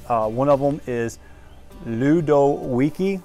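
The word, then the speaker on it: Ludowici: One of them is Ludowiki. It's pronounced Ludowiki, but it's spelled L-U-D.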